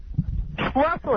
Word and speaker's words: Schlossel: Schlossel, it rhymes with muscle.